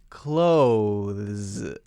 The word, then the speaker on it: clothes: but the fact is 99.9% of native English speakers won't say that clothes clothes they say it so quickly that it might as well just be clothes CL OS e CL OSE CL OSE so instead I would recommend for this one that you just say CL OSE clothes I'm gonna buy